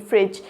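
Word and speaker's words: fridge: हैं क्योंकि वो कैसे ख एफ आर आई फ्रिज तो उसमें फ्रिज में डी साइलेंट होता है तो डी भी आएगा तो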